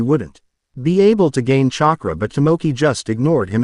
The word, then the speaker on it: chakra: That's what chakra looks like, Tomoki asked in disbelief. Well, if you pronounce it. It does sound like you say the word chalk and raw as in the Egyptian sun god, Sugata explained.